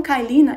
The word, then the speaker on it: Kyleena: é karina que se fala tá ok então calina ele é um diu de baixa dosagem então